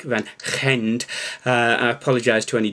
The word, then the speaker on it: Van Gend: the van gend well it looks like van gende but apparently it's pronounced something like van gende uh i apologize to